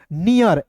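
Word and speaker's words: near: तो इसका उच्चारण ईयर के रूप में करेंगे। तो क्या हो जाएगा दोस्तों? नियर एन इ ए आर।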